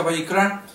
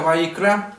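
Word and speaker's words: ויקרא: Israel Dale ciertas instrucciones levítico en original se pronuncia bicra y significa y llamó al leer levítico capítulo 1 verso 1 Vamos a ver que dice y llamó Dios a Moisés y le dijo entonces y llamó se pronuncia byra que es el nombre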